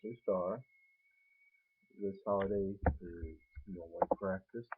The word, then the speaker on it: Ostara: Some maybe pronounce it Ostra, but it is pronounced Ostara.